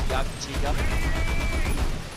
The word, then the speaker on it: Jagdtiger: It is pronounced Jagdtiger.